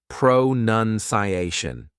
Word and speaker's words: pronunciation: This long word happens to have 5 parts, 5 syllables, right?